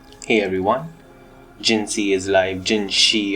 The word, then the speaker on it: Jinhsi: everyone jiny is live gin she or however you want to pronounce her I always call her you know gin she because that's how it's in the game so these pulls were